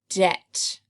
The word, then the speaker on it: debt: next words do a debt debt is when you owe somebody something it has a silent B in our last word